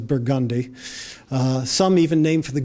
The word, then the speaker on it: Burgundy: a poetry, Rampart, Perdido, Burgundy, which we pronounce as Burgundy, some even named for